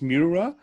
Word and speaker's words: Meurer: name is it's in english it's easier to pronounce mirror um i know it's